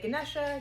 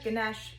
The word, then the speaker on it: Ganesha: a meditation on Ganesha some people say Ganesha Ganesha it's kind of like potato potato whether you pronounce the a I myself will interchange